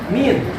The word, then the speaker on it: mean: Nah, untuk lain rata-rata min, tulisannya mean, dibacanya min.